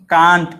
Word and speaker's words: can't: জিনিসটা CAN apostrophe টি, এটার উচ্চারণ কান্ট, KANT কান্ট হয়, আবার KENT লেখার জন্য নয়, এই যে জাস্ট বোঝার জন্য। কান্ট এভাবে কান্ট, আবার ক্যান্ট এরকমও হয়।